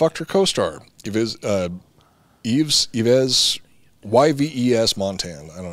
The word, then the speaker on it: Yves: co-star give his uh eves yves y-v-e-s montan i don't know he's i think he's some brazilian he's just pronounced eve eve montand like saint laurent okay so she [